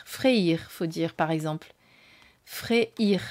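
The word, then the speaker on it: Freyr: faut dire par exemple fréir faut prononcer le y en fait voilà bon et ben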